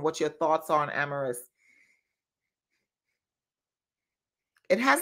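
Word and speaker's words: Amyris: And then I also have, I want to say it's pronounced Amaris, A-M-A-M-Y-R-I-S.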